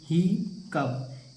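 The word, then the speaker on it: hiccough: पढ़ेंगे स्लफ हो जाएगा और यहां पर देखिए ही कप हि कप कप माने क्या हो जाएगा देखिए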